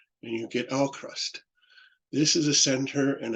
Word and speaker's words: AVKRVST: Well, you read the V for a U and you get Alcrust.